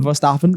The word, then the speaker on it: Verstappen: I believe it's pronounced Verstappen. Verstappen, yes.